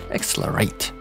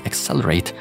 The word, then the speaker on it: XLR8: In fact, we're dealing with their gaming brand named XLR8, or probably how it's supposed to be pronounced, XLR8.